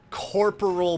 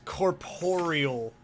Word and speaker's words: corporeal: very clearly it's not corporal beast it's corporeal beast it's how it's spelled it's not corporal like corporal billy willy it's corporeal beast jesus